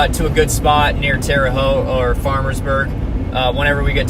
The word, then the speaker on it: Terre Haute: Terre Haute.